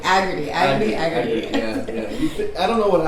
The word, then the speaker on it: Agardy: I'm sitting here with Agardy. Is that how you pronounce your name? Agardy. Agardy. Okay. Yeah. In my head, it was this whole time it's been Agardy, but Agardy.